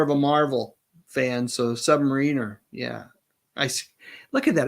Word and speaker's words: Submariner: I said Submariner. It's Submariner. As a kid, I would always call it the Submariner, and it's really been a hard thing to kind of shake, is those mispronunciations that one does as a child.